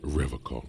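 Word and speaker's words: Revachol: He pronounces Revocol Yeah. with a hard K, unlike other people.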